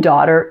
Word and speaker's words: daughter: this T variation and the final sound in daughter is the air sound make sure to pronounce it completely in American English to produce an ER sound your tongue floats freely in the middle of your mouth and does not touch